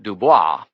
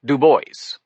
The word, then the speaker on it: Du Bois: Since most people pronounced his name Du Bois, he insisted they should say Du Bois.